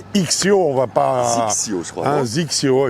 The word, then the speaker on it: XXIO: on va pas un zxio exactement ça se prononce comme ça en tout cas zacio pour être précis voilà hein et le